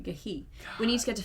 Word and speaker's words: ghee: it's pronounced gahi. Sorry, gahi.